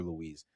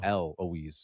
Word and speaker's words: Eloise: Mostly because people always get her name wrong and call her Louise. Where I'm just like, no, Eloise.